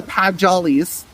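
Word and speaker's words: Padjal: there by I believe the one of the pad jollies if that's how you said that word I've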